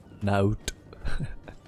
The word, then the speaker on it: Naut: investigate the disappearance of this note that's how you say it in french okay i think this